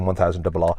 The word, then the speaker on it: M1000RR: Okay, so that's how you say it, M1000RR.